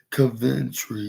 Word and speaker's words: Coventry: Yeah, that's how you pronounce it. Ventry, coverage, Coventry.